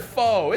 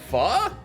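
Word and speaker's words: Phở: I've always heard faux. It's not foo. Right? I actually don't know. I swear. Maybe it's an American thing. Maybe it's a Midwest thing. Rhymes with duh. Pho? It's pronounced pho?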